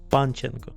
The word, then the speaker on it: Panchenko: Did I pronounce that right, by the way? Yeah. Panchenko? Panchenko. Panchenko, all right.